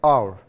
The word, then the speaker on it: hour: So we should say now, we read, we speak in pronunciation, we should say hour.